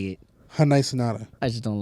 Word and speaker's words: Hyundai: someone like from Hyundai say that it's Hyundai like Sunday. Hyundai. Yeah. It's supposed to be like that? Yeah. Hyundai?